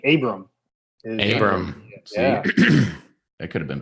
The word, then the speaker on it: Abram: it Abraham Smith Bowman what's the proper way to say Smith Bowman and it's actually Abram Abram it could have